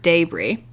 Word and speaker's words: debris: Roast beef style po' boys are often served with debris, spelled like debris, but pronounced debris, which is basically bits of meat that fell off during cooking and are rendered into like a near gravy consistency.